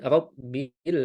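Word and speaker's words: رَبِّ: Ketika huruf ro di harakat kasrah maka dia tipis. Ketika fathah dia lebih tebal, maka jangan kita baca ee seperti rabbil bil, tapi lebih kita tebalkan lagi rab bil alamin.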